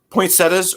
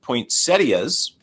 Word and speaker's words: poinsettias: So, uh, poinsettas or correctly pronounced poinsettias.